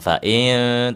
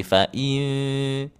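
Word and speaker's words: فَإِنَّ: Bukan fail tapi fain.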